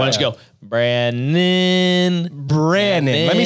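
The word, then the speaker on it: Brannen: Brandon. Let me spell it for you. Yeah. B-R-A-N-N-E-N for all those listening. Brandon.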